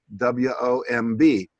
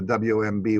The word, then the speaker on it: womb: So I knew the word bomb, B-O-M-B. So I said, Jesus sprung from Mary's womb. But it really should have been Mary's womb.